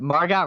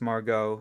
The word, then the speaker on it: Margot: But Margot Robbie, man, how did I forget about her? Well, how do you pronounce her name wrong? It's Margot. You just said Margot.